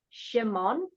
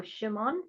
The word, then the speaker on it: Shimon: um and this word sometimes we say um Simon or Simeone but it's also the name is also Shimon so Shimon so it's a play